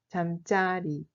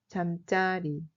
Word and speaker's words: 잠자리: Alors que si le mot signifie l'endroit où on dort, dans ce cas, la prononciation change. 잠자리. 잠자리.